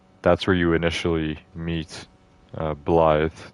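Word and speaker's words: Blaidd: That's where you initially meet Blythe, which they're all pronouncing it Blythe, even though it's got two D's at the end. There's no TH, so I don't know how they're getting that, but everyone's calling him Blythe.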